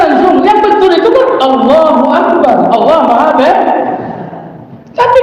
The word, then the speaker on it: Allah: Boleh konsentrasi, tapi jangan di A dipanjangkan. Nah, di mana dipanjangkan? Di lam. Allah.